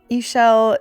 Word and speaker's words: Ishell: And I decided to go back and go inside because Ishell is my name. It rhymes with seashell.